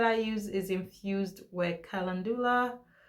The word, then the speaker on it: calendula: The olive oil that I use is infused with calendula. Some people may pronounce it calendula, but I pronounce it calendula.